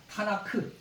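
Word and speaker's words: תנ״ך: 어빙 케투빔 라는데요 급자 이게 요것이 이제 타라고 히브리어 타라고 얘기해서 트 발음이 나오고 그다음에 이제 예언서는 어 내빈이서 제일 앞글자가 눈이라고 해서 니은 바람이 나오고 그다음에 이제 성문서 이제 개투이라서 크 키업 바람이 나오거든요 그래서 여기다 모음을 이렇게 붙여서 타나카 타나크 이렇게 그 유대인 성경은이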